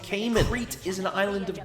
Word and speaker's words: Cayman: And it's pronounced Cayman.